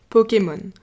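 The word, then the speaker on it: Pokémon: it's almost the same word we say Pokemon Pokemon we add an accent on the E to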